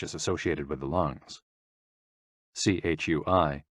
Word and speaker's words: chui: associated with the lungs c-h-u-i pronounced like chui with a forceful exhale which is also associated